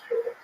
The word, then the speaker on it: Fyodor: I'm like, yeah, well, that's kind of the accepted American pronunciation of Fyodor, though. So I wanted to ask you, it's Fyodor.